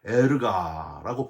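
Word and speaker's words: ἔργα: 헬라어로 에르가라고 발음을 하는데 행위들, 즉 뒤에 나오는 사랑과 믿음과 섬김과 인내와 함께 할 수 있는 모든 하나님이 기뻐하시는 일을 했다, 그런 뜻이 되는 거예요.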